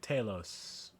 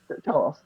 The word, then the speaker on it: Talos: Taos. Totally pronounced that correctly. Talos.